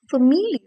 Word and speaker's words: familiar: But in the word familiar, the A gets pronounced as A.